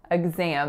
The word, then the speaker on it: exam: part of college typically so in exam there are only two syllables and that first syllable is a schwa the second syllable is a nasalized tense ass sound so it sounds like am exam I hope you do